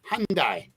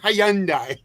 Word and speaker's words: Hyundai: it hyand Hy Lori it's the why is silent it's Hyundai Hyundai Hyundai whatever but it's not Hyandai Hyandai that's a that's a